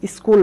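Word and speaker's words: school: Next উদাহরণ বলতে পারি স্কুল বানানটা, এই যে স্কুল বানানেও কিন্তু ডাবল ও চলে এসেছে, তাই উ সাউন্ড হচ্ছে স্কুল, উ, এই সাউন্ড আমরা পাচ্ছি।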